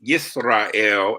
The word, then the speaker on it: Yisrael: So Israel is Yisrael and Jerusalem is Yerushalayim. So it's the Y.